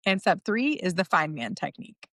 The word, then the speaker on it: Feynman: And step three is the fine man technique. See the spelling but pronounced like fine man where you prove you actually understand.